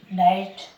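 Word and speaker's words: knight: के एन आई एस टी, नाइट, क्या बोलेंगे इसको? नाइट।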